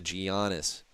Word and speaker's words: Giannis: Oh, it's Giannis.